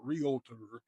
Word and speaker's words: realtor: You're a realtor, be proud of it. And it's not 3 syllables, not realtor, it's realtor, 2 syllables.